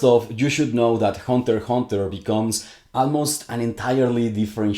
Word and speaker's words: Hunter × Hunter: benefit immensely from watching Hunter x Hunter. The X is silent.